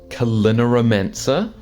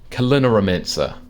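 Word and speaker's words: Culinaromancer: Kalinaromancer. Kalinaromancer. Kalinaromancer. From like culinary and then like necromancer, or mancer as in like a magician. So a magician of making food, right?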